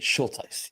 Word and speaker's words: Schulteis: Schulteis.